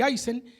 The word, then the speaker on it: Aysén: Bueno, porque dice, los sucesos ocurrieron en la región del Aysén, digo Aysén porque no llevaba acento en las palabras en los diarios.